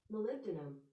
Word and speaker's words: molybdenum: time well hold hold on james it's called molybdenum that was really really well done see how